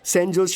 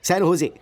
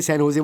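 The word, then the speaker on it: San Jose: Oh sorry sorry sorry sorry sorry, सैन होजे, SANJOSC, इसकी spelling यही है ना, लेकिन इसमें जे साइलेंट रहता है, इसलिए इसे सैन होजे बोलते हैं।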